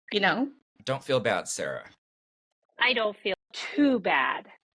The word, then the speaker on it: Sara: proud enough of me to pronounce my name as Sarah but I will wait for that I'm not gonna it I just think prettier it's it's you you're probably right you're I might change it I just might change the pronunciation I am so Gina